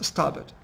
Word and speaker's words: starboard: No, starboard, and the pronunciation is starboard, and then port como puerto.